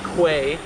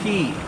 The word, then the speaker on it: Quay: of those I remember I used to call these Quay and then I had a bunch of people in the comments thank you guys say that it's pronounced key and these are actually